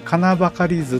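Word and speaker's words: 矩計図: ていう、これ金ばかり図って読むんですけれども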